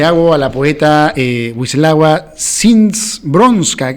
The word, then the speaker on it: Szymborska: a la poeta Wisława Szymborska, que es un nombre muy raro y complicado de pronunciar, porque cuando lo vean tiene una S y una Z, ¿no? Y una Y, Szymborska, el libro Paisaje con grano de arena.